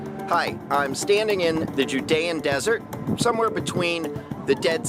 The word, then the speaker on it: Judea: hi I'm standing in the Judean Desert somewhere between the Dead Sea and Jerusalem